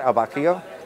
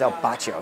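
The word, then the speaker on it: Al Bacio: It's not El Bacio, it's El Bacio. You gotta say it with an Italian accent.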